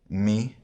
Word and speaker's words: mu: Now let's go through them again using the modern pronunciation. Alpha, vita, gamma, delta, epsilon, zeta, eta, theta, iota, kappa, lambda, mi, ni, xi, omicron, pi, rho, sigma, tau, epsilon, phi, chi, psi, omega.